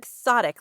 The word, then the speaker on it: quixotic: Quixotic. Let me make sure I pronounced it right.